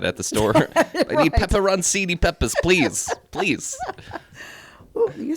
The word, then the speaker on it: pepperoncini: I need pepperoncini peppers, please.